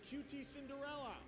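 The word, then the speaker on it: QTCinderella: he says QTC inderella like I didn't catch that the first time I saw that but like isn't it QT Cinderella So this [ __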